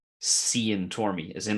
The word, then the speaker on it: Tormey: Ironically, Tormey is said wrong here. No way. And not outside of Ireland. How could you mispronounce it? Tormey? Tormley, Tormby, Thorm, like every gross variation of the name.